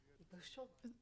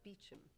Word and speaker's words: Beauchamp: Beauchamp. Oh. Oh, that's my family name. Although we pronounce it Beecham. Yes, the English say it that way, yes.